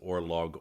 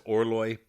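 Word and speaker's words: Orloj: He calls it Orlog, Orlodge, Orlo-hee-ho-hee-ho. Yeah, he thinks he's cute. You know, I let him think he's cute. And but that's Orloi, the Prague astrological clock.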